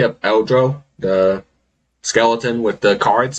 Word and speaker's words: Eldro: Eldro.